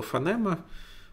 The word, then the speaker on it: фонема: То есть, например, вот я говорю слово фонема, в нем там есть ф, а, такое коротенькое, мягкая n, фонема, нет, фонема, нет, не мягкая, обычная n, потом e уже такое настоящее длинное с ударением, потом m, и потом тоже какое-то что-то такое на конце. Вот, фонема.